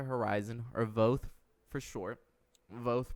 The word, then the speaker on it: VOTH: VOTH pronounced like both, but with a V. You know what I'm saying? Like VOTH.